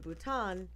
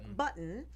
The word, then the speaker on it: Bhutan: the courtroom and laughingly referred to Bhutan if I'm saying that correctly I'm hoping as button according to two sources